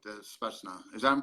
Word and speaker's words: Spetsnaz: So what were they like, the Spetsnaz? Is that I'm pronouncing that correctly? Yeah, Spetsnaz.